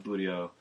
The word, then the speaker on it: buteo: groups of laws yeah buteo everyone plans that I put the emphasis on the middle syllable for that one you do what you